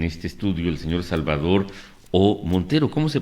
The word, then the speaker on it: O. Montero: Resulta que pues nos visita en este estudio el señor Salvador O. Montero. ¿Cómo se pronuncia, don Salvador?